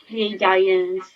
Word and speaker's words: Pleiadians: higher self, angels, archangels, Pleiadians, or Bashar actually says that Pleiadians could be pronounced two ways, Pleiadians, so I'm saying it wrong, Pleiadians, all Pleiadians.